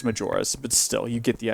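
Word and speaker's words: Majora: Although that works because Twilight Princess comes after Mayor's Mask, and I'm almost finished with it. And yes, I know it's pronounced Major, but still, you get the idea.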